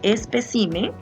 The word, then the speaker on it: espécimen: En el caso de espécimen, la sílaba tónica de espécimen, acá está, es acá, ¿verdad? Donde está la tilde.